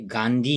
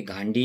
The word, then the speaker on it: गांधी: नहीं मिलता है यह गांधी ही होता है जिसका spelling ji ए एन डी एच वाई सो यह गांधी ही होता है यह कोई घांडी नहीं होता है या गां नहीं होता